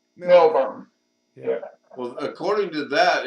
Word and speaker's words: Melbourne: When you put And that, it's pronounced Melbourne. B-U-R-N-E. Burn.